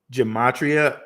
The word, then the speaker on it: Gematria: Gematria, I would spell it this way: GEMATRIA. Some people say GA instead of GE, but this is the way to say it.